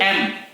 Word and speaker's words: M: नहीं है, ये एल एम एन। यल के जगह क्या पढ़ेंगे उसको? सही एल। और एम के जगह पर सही क्या? यम के जगह पे एम। यम नहीं है, यम, ये एम है, एम।